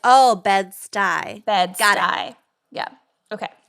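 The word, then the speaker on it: Bed-Stuy: stewie vescent and they're like what and it's pronounced stuyvesan but so bed stuyvesant bedford stuyvesant but it's oh bed stuy beds got eye yeah okay also smart ass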